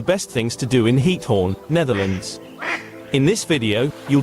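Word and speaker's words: Giethoorn: The pronunciation of heat horn is approximately heat horn with a gutal ch sound similar.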